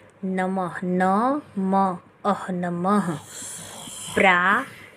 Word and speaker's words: नमः: तो जैसे यहाँ पे देखिए दे रखा है नमः, न म अह नमः, प्रा त ह प्रातः, पढ़ने का उच्चारण बच्चों को सही सिखाएं ताकि उनको रीडिंग करने में आसानी हो।